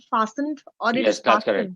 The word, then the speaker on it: fastened: seat belt must be fastened by you okay silent over here so t is silent in that fast fastened no that is correct you're right fastened by you yeah i